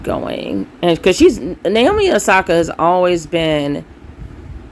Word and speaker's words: Osaka: recently had to step out of the competition osaka and i was pronouncing it wrong but she had to step